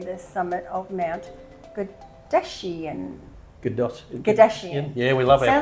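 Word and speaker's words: Godaisan: Gadashian. Yeah, we love our pronunciation. Sounds like pronunciation. Kardashian, but it's Gadashian.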